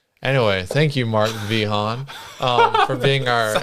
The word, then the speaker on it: Vehaun: the podcast yeah so it depends on which country you're in um where does it come from I have no idea it's V Han vihan vihan yes I